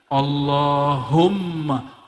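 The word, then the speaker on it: اللهم: orang ngaji ilmu hakikat allahum salah satu Sir asma karena di situ ada mimnya Allahumma Gimana cara bacanya Allahumma bukan allahum allahum dia mesti ditasdidkan allahum ya dan dia harus idgham ya ada rahasia di situ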